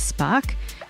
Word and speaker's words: SPARC: Alternatively, if you are a member, you can go to the ASA website and search for SPARC, which is spelt with a C and stands for the Scientific Prizes, Awards and Research Committee.